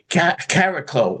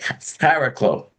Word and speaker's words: Chariklo: We can say Cariclo, which is basically the actual pronunciation. It's like a cross between a CH and a K. Cariclo. Chariklo.